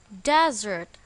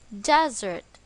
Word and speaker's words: desert: it is pronounced as desert the stress is on the first syllable desert as a verb the